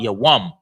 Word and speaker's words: Yawam: Tawab Yawam. Tawab Yawam. The ya is pronounced alone. The wa and the ma are connected. So it's yawam.